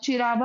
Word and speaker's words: चिरवा: ठीक है, गुहिल डायनेस्टी से है चिरावा, जिसको अपन ये लिखा चिरवा है लेकिन अब इसको चिरावा बोलते हैं, बोलते प्रोनाउंसिएशन का चिरावा होता है।